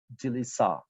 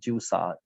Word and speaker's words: Jilisa: Oh, sorry, I pronounced your name wrong. Jilisa, not Jusa.